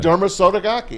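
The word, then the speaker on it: Derma Sotogake: Derma Sotogaki. Strong, man. Derma Sotogaki.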